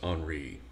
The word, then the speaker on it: Henry: it's French so e-m-i-l-e-h-e-n-r-y so Emile email and I French it's Henry you don't pronounce the h for whatever some reason